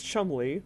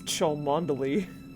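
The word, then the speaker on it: Cholmondeley: right well well chum i'm pretty sure is chumbly which is the correct pronunciation of what george has been pronouncing as chalmondely dio what's that whoever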